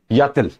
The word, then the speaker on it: y a-t-il: Il y a, why will come first, after that a, and we have used t here so that to make the pronunciation better. Yatil, we call it yatil.